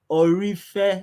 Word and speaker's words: Ooreofe: teach you how to pronounce it now? Yes, Ooreofe Ore, Ore.